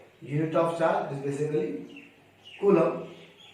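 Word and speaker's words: coulomb: of charge is basically Kum we pronounce it as Kum but the spelling see the spelling colum so better we read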